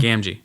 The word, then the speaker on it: Gamgee: Gamgee.